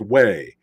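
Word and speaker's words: Huế: was pronoun it was spelled Hugh but it's pronounced way and I don't mind I'm glad somebody wrote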